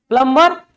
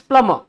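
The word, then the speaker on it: plumber: क्या लिखा हुआ है प्लंबर इट्स नॉट अ प्लंबर। इट्स प्लमबर। इट्स प्लमर। क्या है ये? प्लमर। ब को उच्चारण नहीं करना।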